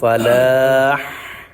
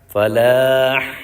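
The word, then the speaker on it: فلاح: listen to মি প্রত্যেকটা শেষে হা উচ্চারণ হবে আর শুধু হাইয়া আলাল শেষে হলে হা উচ্চারণ হবে খেয়াল করে শোনেন হাইয়া আলাল ফালাহ ফালাহ ফালাহ আর বাকি যা আছে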